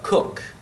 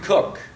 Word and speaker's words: Coke: uh sir edward you pronounce his name uh cook it's spelled coke but we didn't didn't have any coke then there wasn't any pepsi either but but you pronounce it cook sir edward cook was the primary author of